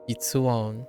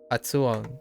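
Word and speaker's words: 撥音: It was Hitsuon. Hitsuon is what we hit today by accident. Oh, Hatsuon. Yeah, I said Hitsuon again. Hatsuon. That's the mistake that I made. Hitsuon instead of Hatsuon.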